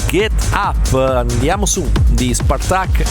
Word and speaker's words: Spartaque: Parliamo di Pablo Say o Pablo Say, se la vogliamo pronunciare allo spagnolo, insieme a Spartaque. Mi ha confermato, si pronuncia Spartaque e non Spartaki.